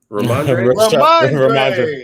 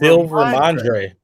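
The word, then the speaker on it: Rhamondre: Ramondre. It say R. I was like, how you say it again? Ramondre. Ramondre Stevenson.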